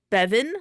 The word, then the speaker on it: Bevan: It's pronounced Bevan, like beverage.